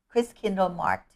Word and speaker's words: Christkindl Markt: the the pronunciation Chris Chris Kindle marked y so we went with the German spelling and the German pronunciation of it and then is that